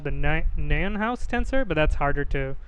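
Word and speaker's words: Nijenhuis: It's called the Nienhaus tensor. I was just very intrigued by the pronunciation of this word. It's called the Nienhaus tensor. Or I've heard it also called the Nienhaus tensor, but that's harder to pronounce.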